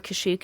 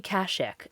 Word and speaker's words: Kashyyyk: uh it's it's actually this is kashik or kashyyyk depending on how you pronounce it um many things in star wars have different vowel pronunciations like emphasis so this is actually kashik um this is chewbacca's home planet this is